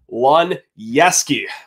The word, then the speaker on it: Luniewski: be way easier than that you know that pronunciation can be quite quite the obstacle course for yours truly over here but hey Lon yeski we get to talk about them what's the